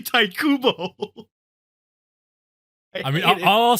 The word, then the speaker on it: Tite Kubo: But I mean, no, if it's phonetically tight. it would make sense, but it's actually Taikubo.